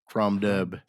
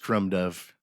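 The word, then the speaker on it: Crom Dubh: cool it's it's uh crom duh okay like crom dub but it's pronounced Crum do and the other one was di the other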